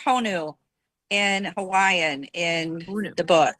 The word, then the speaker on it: Honu: And the DJ is is is uh turtle is pronounced Honu in Hawaiian in the book.